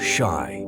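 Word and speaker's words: 四: The reason is that the pronunciation of the number 4, shy, is similar to the word for death in Japanese.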